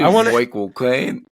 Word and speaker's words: Michael Caine: I can at least do Michael Caine. The trick is to say it like you're saying my cocaine.